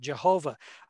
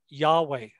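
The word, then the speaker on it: YHWH: pronunciation of these letters some of them insert the vowels that it comes out jehovah other ones yahweh spelled either with a j or a y it's this name was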